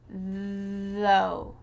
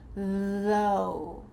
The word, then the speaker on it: though: Though. You're going to feel your lips vibrating, maybe your throat as well. Though. And the final part sounds like OW. Though.